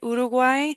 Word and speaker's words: Uruguay: ones to practicement uruguay especially uruguay because we have that u that's tricky especially if you come from English where you want to say you instead of oo so oo is like you're saying you're seeing something magical or really cool to look at ooh wow Wow.